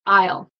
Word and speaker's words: I'll: I will right so I will would be like I will together it's Isle it's kind of that word like this word right here um that's pronounced isle is that crazy but ale